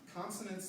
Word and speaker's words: consonants: Consonants, and it's consonants, that's a schwa at the end.